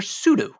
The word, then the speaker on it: sudo: In concept, they're a replacement for sudo. Sudo, or sudo, S-U-D-O for those who aren't pronouncing things the way that I am, or potentially correctly, is one of the